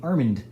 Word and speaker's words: Armand: So if you ever see me, don't call me Armand. It's Armand, like Armando without the O.